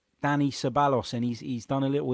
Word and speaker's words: Ceballos: been talking about for a while it's Danny Cevallos and he's done a little interview as well which you can find on arson common he said that it that it's pronounced sir by oh is that right close enough but Danny so